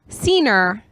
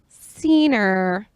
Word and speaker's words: Cener: If you can't see his last name, it's, how do you pronounce it? Cener. Cener.